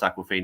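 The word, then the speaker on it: Awkwafina: It's it's pronounced Aquafina, even though it looks really weird.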